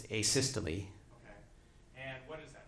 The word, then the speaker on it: asystole: Cave was quickly, and I'm going to probably mispronounce this, asol. What is, am I saying that correctly? No, How do you pronounce it? it's asystole.